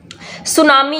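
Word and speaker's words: tsunami: जो यह चीज है यह साइलेंट रहता है आप इसको नहीं बोलेंगे आप बोलेंगे सुनामी बट लिखा यह ऐसे ही जाएगा अब बोलेंगे सिर्फ सुनामी तो जो सुनामी है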